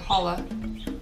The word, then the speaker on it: challah: And actually, I think the bread is pronounced challah bread. The C is silent. It's a C. Oh, okay, challah bread. Yeah, C-H-A-L-L-A, challah.